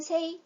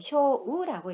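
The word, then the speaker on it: 青: 자, 청이라는 소리는 세이 또는 쇼우라고 읽고요.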